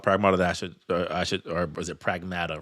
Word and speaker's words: Pragmata: Of like, oh, maybe there is something about Pragmata that or was it Pragmata? Right, that's the correct way they're pronouncing it.